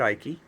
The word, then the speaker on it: Icke: David, either drop the E or allow me to refine myself to speak properly, because there are plenty of E finals that aren't pronounced in English. So David Icke and Laura Magdalene Eisenhower,